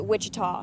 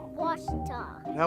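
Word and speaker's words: Ouachita: for wasita Baptist University back in Texas everybody pronounces it Witchita but really it's was was was how would you pronounce it wash was it's wash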